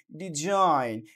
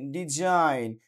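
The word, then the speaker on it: design: এস আই জি এন ডিজাইন ডিই এস আই জি এন ডিজাইন সো এখানেও কি এখানে জির উচ্চারিত হচ্ছে না ফরেন ফরেন এফ ও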